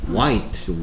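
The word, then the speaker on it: white: 영어로 소리가 h 아 일단 발음이 뭐죠 와이트 와이트 와이트 어 우리말로으면 와이 이런 소리나요 그래서 여기까지 뭐가 y 소리냐 얘가 y 리어 y h 소리가 안나 우하고 얘가 소리 안 나고 우하고 I 왔으니까 우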